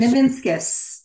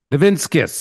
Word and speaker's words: Nivinskus: it for us please ninus ninus just like it's spelled right it is it is it's phonetically correct it's just letters so